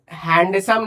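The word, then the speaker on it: handsome: जैसे मैंने बोला ही इज हैंडसम, ठीक है, इसको हैंडसम नहीं पढ़ते, इसमें डी साइलेंट होता है।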